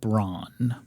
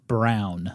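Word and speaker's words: Braun: girlfriend's name as Ava braa mhm unfortunately that is techn Ally incorrect her last name is pronounced Brown like the color oh not Bron like the bronny sexy paper towel guy that guy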